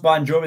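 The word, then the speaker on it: Bongiovi: born John Francis ban it's actually pronounced bonjovi they just changed the spelling of it for B okay okay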